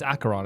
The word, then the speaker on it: Acheron: I think I keep pronouncing, by the way, Acheron, like Acheron, Acheron. Yeah, it's Acheron, I believe.